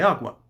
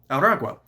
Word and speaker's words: Aragua: members are part of Tren de Agua. Aragua. I've not been pronouncing that correctly.